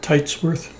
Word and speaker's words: Teitsworth: I have the pleasure of talking to, how do you say your last name? Titworth. Titsworth.